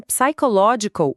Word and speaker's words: psychological: Mas em psychological, o P inicial é totalmente mudo. Você vai direto para o som do S.